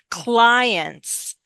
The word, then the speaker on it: client: Use a little bit of a Y sound.